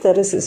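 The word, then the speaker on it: Thyrsis: and the matthew arnold's terrorists it's to be pronounced terraces okay there is this is an example for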